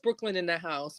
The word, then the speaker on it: BKLYNNDAHSE: On Instagram, it's pronounced Brooklyn in the House, but it is spelled out BKLYNNDAHSE.